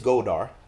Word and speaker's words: Goldar: It's Goldar.